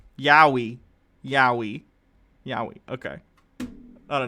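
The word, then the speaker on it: yaoi: pronounce that word it's y it's y-a-o-i yeah yowie okay thank you for the phonetic pronunciation yowie yowie yowie okay i don't know what that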